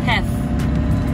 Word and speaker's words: Theth: Und ich glaube, er wird englisch ausgesprochen. Englisch TH. Ne? Also Theth. Der Ort wird Theth. Vielleicht auch Teth. Ich glaube Theth.